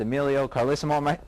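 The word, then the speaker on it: Emilio Carlesimo: that's the news and now to Our Guest Emilio carisimo I'm pronouncing your name correctly you are okay Ron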